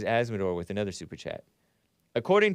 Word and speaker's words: Azzmador: And Asmodor is spelled AZZMADOR. Some of you guys think I'm saying asthma, like the breathing condition that those kids get from those gas ovens or stoves or whatever.